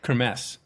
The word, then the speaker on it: Kermesse: Finding out the scene in this particular type of racing you did, I cannot pronounce it. The K, how do you say it? Chris Kraus Uh, Chris Kermesse, Kermesse.